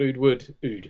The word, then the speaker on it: Oud: I got Tom Ford Oud, that's how you pronounce it, for Christmas.